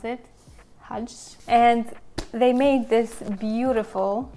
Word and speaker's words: KJH: Collaborated with KJH, I think that's how you pronounce it, Hudge. And they made this beautiful brush set. KJH is Hudge.